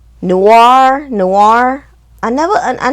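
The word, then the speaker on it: Noire: Um G-Spot, No War. Noir, noir. I never I I never knew how to pronounce that name.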